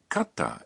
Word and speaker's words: katta: listen and repeat now katta is pronounced with a brief pause in between ka and ta tanode another